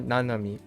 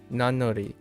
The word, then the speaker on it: Nanori: Oh, Nanori. Nanori. Sorry. Nano or no. Does that make sense? No, it doesn't. Nanori. Oh, Nanori. Yeah, Nanori. Not Nanomi. Nanori.